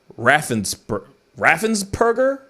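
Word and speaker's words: Raffensperger: a conversation with brad raffens burger i keep saying his name wrong i keep saying it it's raffensburger right yeah yeah reference burger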